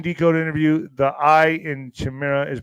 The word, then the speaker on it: chimera: Chimera, I think is chimera is how you say it. Is it chimera? YES. HEY, YO. ALL RIGHT. Chimera is pronounced just like the I in bike.